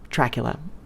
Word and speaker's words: Dreach-Fhoula: There is also an Irish word spelled Dreach-Fhoula, which is pronounced Dracula, and means bad or tainted blood.